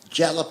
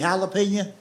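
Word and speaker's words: jalapeño: He'll say to a waitress, "Do y'all have jellop? You mean jalapeno?"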